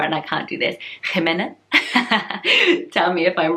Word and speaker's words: Jimena: So I'm pronouncing it Jimena.